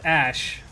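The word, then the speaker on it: Aesc: Morgan it's Ash no her name is pronounced Ash like Ash Ketchum they've confirmed it's pronounced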